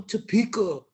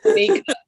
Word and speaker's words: Tamika: Go Topeka right next to him. He's like, it's Tamika, you know?